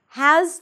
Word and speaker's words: has: Now, has to follows the same rules. Has, there is a Z sound at the end, even though it's spelled with an S, it's a Z.